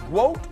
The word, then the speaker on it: WOAT: Wote? Is that Is that how it's said? Yes, like goat, but w wote, yeah.